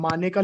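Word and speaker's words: Maneka: मेनका Gandhi case में, मेनका Gandhi case में जो कि 1978 का केस है, इसको सॉरी स्पेलिंग ठीक कर देता हूं, मानेका लिखते हैं, बोलते मेनका है।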